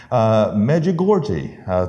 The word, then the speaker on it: Medjugorje: And this person said, I hear the voice of Mary from Medjugorje. It's over there near Czechoslovakia, I believe. And I believe that's the proper pronunciation of the town.